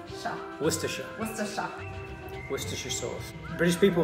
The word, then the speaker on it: Worcestershire: Worcester. Worcester. Think of rooster. Rooster. Rooster. Rooster. Worcester. Worcester. Shire. Shire. Worcestershire.